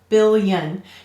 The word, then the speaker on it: billion: it's fourth sound yes bill young billion you can even feel it when you're saying that billion and here it's acting as a consonant it's not a vowel if that were a vowel billion would be three syllables because every syllable would have a vowel in it then all right the